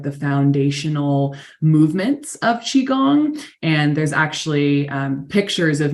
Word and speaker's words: Qigong: is it pronounced cheat Qigong right yes Chi is or the QI is always pronounced like c-h-i in Chinese medicine awesome can you speak to some of the benefits of Qigong oh absolutely where to